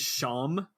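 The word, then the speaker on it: Seam: spelled you know and sorry his name is sham which is really funny um but it's spelled s e a m so you now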